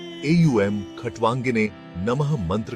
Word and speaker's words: ॐ: AUM का उच्चारण ओम की तरह किया जाता है, जिसमें ओ साउंड को लंबा खींचा जाता है।